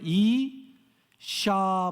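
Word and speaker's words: אשה: 어떤 발음이에요? 이샤 발음이 나죠. 이샤. 그 마지막에 헤이라고 이렇게 사다리처럼 생긴 한 가지가 뭐냐면 그것은 흐 발음이 나는 거예요. 그러니까 이샤 이렇게 되는 거죠.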